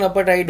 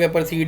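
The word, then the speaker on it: apartheid: अपाटाइड बेटा इसकी प्रोनाउंसिएशन अपाटाइड होती है. ठीक है, कुछ लोग एपरसीड या एपरसाइड बोलते हैं.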